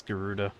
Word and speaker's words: Garuda: with theen guda ENT of course it's Garuda you know what I would put it past Alpha know to mispronounce it intentionally guda man we are